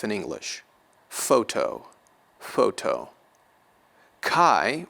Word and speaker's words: chi: Chi or ki will be pronounced approximately to the CH in Bach, Bach.